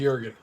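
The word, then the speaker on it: Jürgen: uh showstopper this week it might have been gurgen uh what's his um Jurgen jur Jurgen it's pronounced Jurgen actually wrote down how to pronounce it once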